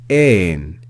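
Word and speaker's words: ἦν: Compare en, which starts with the epsilon, which is a short e sound. Compare that with this third word, which starts with the eta, which is a longer e sound.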